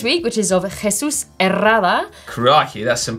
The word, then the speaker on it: Herrada: Herrada. You've got to roll your R's. If you can't roll your R's, then you can't. Herrada. Herrada. It's 2 R's.